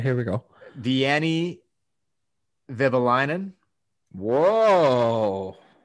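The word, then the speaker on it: Vehviläinen: It's Vivalainen. Vivalainen. It's not that hard. Vivalainen. Not that hard. And his first name is either Vieni or Venny. Vieni Vivalainen.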